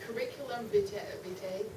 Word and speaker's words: curriculum vitae: I'd like to add that the curriculum vitae, that's how you say it, the CVs that